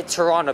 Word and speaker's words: Toronto: baby boomers some millennials i say toronto but he is freaking silent there's nordstrom a story